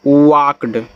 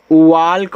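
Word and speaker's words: walked: इसको पढ़ते हैं वाक्ड। वाक्ड। इसको कोई लोग वाल्क पढ़ पढ़ देते हैं। भैया यहां पर एल साइलेंट होता है।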